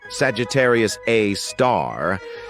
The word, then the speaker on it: Sagittarius A*: We've got Sagittarius A, which is pronounced Sagittarius A star.